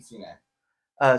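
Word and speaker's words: Cine: Is it pronounced Sine or Sine from Georgia at safety? Sine.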